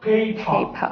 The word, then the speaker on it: paper: প, যেমন pen, pencil, paper, Paper. P A P E R। Sound কি বলবো আমরা? Paper. আর সাউন্ড হচ্ছে বিদেশে আ, নট আর। বিদেশের আর সাউন্ডকে আ উচ্চারণ করে, আর উচ্চারণ করে না।